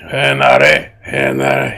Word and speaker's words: Henare: See, Henare. His name is Henry, but they can't pronounce Henry, so it's Henare.